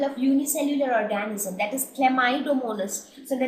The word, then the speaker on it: Chlamydomonas: So please pronounce it correctly. It is Chlamydomonas.